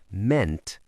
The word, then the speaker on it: meant: It's a short E sound, even though we have two vowels. Mean, meant, meant.